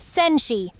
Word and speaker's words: senshi: Next is warrior. Janshi. Pronounced senshi. Say it with me. Senshi. Senshi. Perfect, Ian. You're picking this up fast. Just a little adjustment. It's senshi, with a soft sh sound.